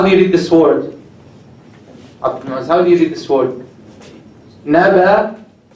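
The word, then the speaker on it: نبإ: So naba'i, it has kasra. This is not pronounced whether you connect or disconnect. So you say naba if you stop. If you connect, naba'il.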